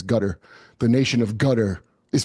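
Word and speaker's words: Qatar: I can't IM gutter that's how you pronounce it by the way it's gutter the nation of gutter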